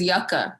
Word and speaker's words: Yucca: A lot of people, this isn't an LA thing, but the street is Yucca. That's how you say it.